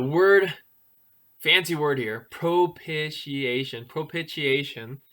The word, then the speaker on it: propitiation: fancy word here propitiation propitiation right that big fancy word how many so was that propitiation five five syllables um it is a